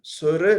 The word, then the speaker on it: Sur: So we pronounce them Sunaya, Siddh, Peer, Sur, Nath. So only Sur wala ra stressed, asserted, whereas akarantak words are pronounced with the last letter as dim.